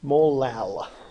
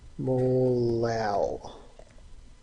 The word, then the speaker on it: molal: Molal. Let me write that out. Molal. That's how you pronounce that. This is a molality. Just like instead of saying molarity, we replace that R with an L.